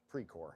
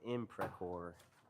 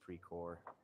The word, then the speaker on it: Precor: Is that an I or is it pre-core? Pre-core. It's just pre-core? Yep. All right, Chad, I'm saying it wrong. P-R-C-O-R. P-R-E-C-O-R. I thought that thing was supposed to be a little I. I was saying imprecor. It's just pre-core. I'm not.